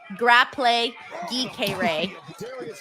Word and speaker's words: Grapple Geekery: Grapple Geekery says my name is pronounced Grapple Geekere.